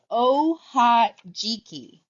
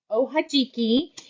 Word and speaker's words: Ohajiki: Okay, this is the new yarn, and you're going to pronounce it Ohajiki. Ohajiki, and it refers to marbles.